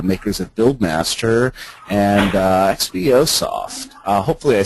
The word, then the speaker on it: XBOSoft: um well first off is it is it xbos soft is that the appropriate is that the general pronunciation for folks yes that's right okay and